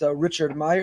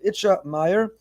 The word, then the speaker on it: Itche Meir: It's not Richard Meyer. It's Rav Itche Meir.